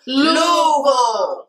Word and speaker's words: Louisville: Louisville. That's right. Louisville. Not Louisville or Louisville or however y'all be jacking it up.